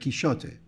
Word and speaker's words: Quixote: Quixote although just about the pronunciation in the Spanish of the time of Cervantes the X would have been pronounced as a show so Cervantes would probably have said Quixote never mind all that